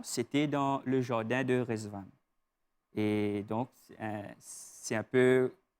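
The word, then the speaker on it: Ridvan: Ça s'écrit comme ça, R-I-D, V-A-N, mais ça se prononce autrement. Racontez-nous un peu l'étymologie de votre nom, c'est vraiment très beau. Hein? Oui, donc, comment on peut dire, ça se prononce Rezvan, et c'est un nom persan.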